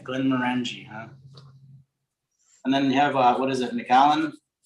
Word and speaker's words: Glenmorangie: But you know, I do like a nice Glenmorangie and Oh yeah, that's my favorite. That's Yeah. the one, man. That's the one. It's Glenmorangie actually. I wondered how you pronounced it.